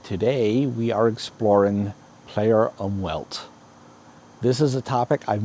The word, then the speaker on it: Umwelt: It's a German word, so it's really pronounced something like Umwelt.